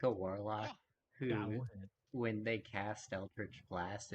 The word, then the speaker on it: eldritch: him and then um eldridge blast you missed yeah you mispronounced that is that correct mark that is close enough okay eldridge blast roll